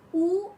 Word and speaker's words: où: So, où, the pronunciation remains the same, but the meaning differs.